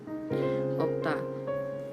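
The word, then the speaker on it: 없다: Nah kalau yang ini yang dibacanya itu konsonan yang ada di depan gitu ya. Opta.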